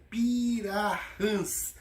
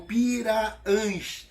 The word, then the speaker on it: Pirahãs: E a tribo se chama Pirahãs, ou Piraãs. É escrito, deixa eu dizer aqui para ficar bem gravado, ó, P-I-R-A-H-A-T-U-S, Piraãs. É porque no Amazonas nós não pronunciamos o H.